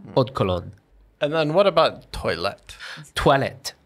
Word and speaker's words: eau de cologne: You don't say O with a round sound. It's just eau de cologne. Yeah, just make it flat.